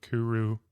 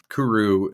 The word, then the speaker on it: Kuru: off of two things is Kuru pronounced in Japanese culture as the way the teenagers used to speak cool like hey that's really cool like kudoo but there was also